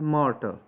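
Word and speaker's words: martyr: तो मॉडर्न के अंदर देखें द होली ब्लेस्ड मार्टर, इसकी प्रोनाउंसिएशन होती है मार्टर, तो जिसको हम मर्टायर मर्टायर पढ़ते हैं।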